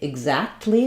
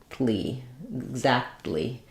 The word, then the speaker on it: exactly: So in exact, we have to say that T sound exact because it's in the KT cluster. But in exactly, we have a K, T, O all in a row. And so there's something called the rule of three, that oftentimes when there's three consonants in a row in a syllable, we drop the middle consonant.